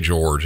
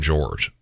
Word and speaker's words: Jorge: Sarah says she loved George and I say George even though if you look at his name you might think Jorge Sarah called him George but regardless of the pronunciation of his name